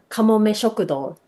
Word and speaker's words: Kamome Shokudo: So how do you pronounce it again? Kamome Shokudo.